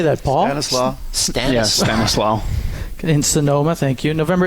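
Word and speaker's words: Stanislaus: do you say that Paul Stanis La Stanis Stanis law in Sonoma thank you November 18 my birthday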